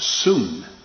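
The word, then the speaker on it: σύν: is which is uh spelled in the english s-u-n but it is pronounced soon and if you were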